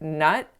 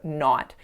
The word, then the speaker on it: not: this exact mistake so I didn't say not with an open enough quality to my vowel I made it too closed so it sounded like nut instead of not so again these are